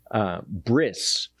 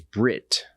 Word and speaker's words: brit: The Orthodox say bris, but biblical Hebrew says brit.